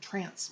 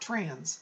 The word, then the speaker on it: trance: That's spelled T-R-A-N-C, as in Charles, E, trance mediumship, or C, that way. Either way, I don't see trance, not trans, trance means that I go into altered consciousness.